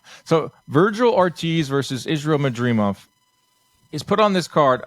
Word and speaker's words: Madrimov: And you're probably wondering, wait, Madrimov? I'm going to get it right. Lampley was pretty pissed when I kept saying it wrong. It's Madrimov. Okay.